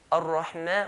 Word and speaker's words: Ar-Rahman: Okay, ar-Rahman, we're going to stretch the mim 2 counts.